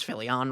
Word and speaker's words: Phillion: so funny how so many creators don't pronounce phillion right yeah philly is usually i feel like what they what